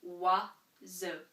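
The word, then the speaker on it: oiseau: And all of these vowels together simply make wa-zo.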